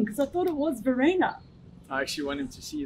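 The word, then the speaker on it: Verreynne: in my head that's on My Sharona Kyle Varina that's a good find song man you know but it's you're saying it's actually the rain well on the swan belt there you have it it's called Verena okay one for me thank you all right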